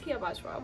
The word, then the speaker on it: Hiiya Bajwa: I'm Hiiya Bajwa, and the correct pronunciation is Hiiya Bajwa, which I don't think is so hard.